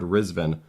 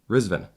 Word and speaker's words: Rizvin: while, and we finally one of us heard Rizvin. I think Jack has to get credit on this, and Scary's like, oh yeah, that's how you actually pronounce it, and we're like, oh my god, we're so sorry.